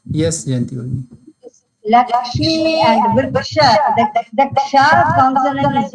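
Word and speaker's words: क्ष: The Ksha consonant is not there, no? How we are doing this? Ksha.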